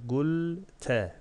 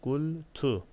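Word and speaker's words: قُلْتُ: O da gulte, gulti, gultu. Bu şekilde okunabilir. Galenin çekimini bilenler bunun farkında. Mazi fiildir. Ama bunun cevabı şudur. Gultu diye okunur bu.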